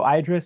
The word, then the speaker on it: IDRA: to say it connotes it rhymes with Hydra to connote an entity